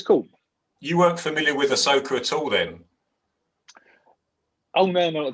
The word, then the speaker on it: Ahsoka: How do you pronounce the name? Asaka, isn't it? Ahsoka. Close, is it Ahsoka?